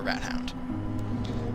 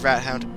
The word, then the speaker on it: Rathound: a couple thugs or rat Hound that is pronounced rat Hound not rat not rathound I think when I first saw I thought I was pronounced rathound um um very